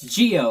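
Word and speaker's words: Jihyo: God, the way I pronounce that. Reaction. It's Geo, okay?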